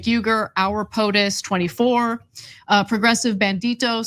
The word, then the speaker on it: Uygur: Cenk, this is pronounced like a J, Cenk, and then Uygur.